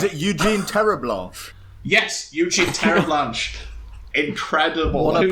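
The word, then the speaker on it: Terre'Blanche: Yes, Eugene Terreblanche. Incredible. What a pronunciation.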